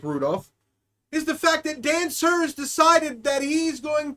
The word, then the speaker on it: Dan Sur: His name is Dan Sur. Not to be confused with Dancer, the reindeer.